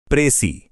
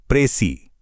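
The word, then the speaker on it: précis: प्रेसी इसका सही उच्चारण है प्रेसी।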